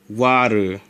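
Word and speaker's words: 割る: The dividing symbol is pronounced as, and this is the only way you can pronounce it, waru.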